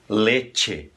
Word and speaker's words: leche: Em espanhol seria leche. Tá? Leche. Esse E tem que soar E e nunca I, não é leite.